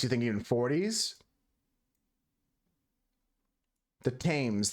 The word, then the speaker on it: Thames: The Thames. There's no H pronunciation, Husker.